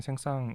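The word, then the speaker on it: Saint-Saëns: 원했다고 하는데요 예 2 도시 자체가 옛날에는 생상 이라고 발음이 되다가 언제부턴가 이게 생성 쓰라는 발음으로 바뀌었어요 년 뒤에 s 가 있긴한데 프랑스에서는 맨 마지막에 오는 자음이 묵음 처리 데이 때문에 원래는 s 늘 발음을 안했었는데 4 예외적으로 s l 발음을 하게 되서 현재는 뭐 한국을 비롯한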